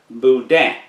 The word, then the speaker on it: boudin: bisque next we have boudin it is not boudin it is boudin and the n is silent boudin next we have cushkush